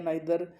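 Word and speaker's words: neither: अब कुछ लोग कह रहे हैं ईदर या आइदर, नीदर या नाइदर।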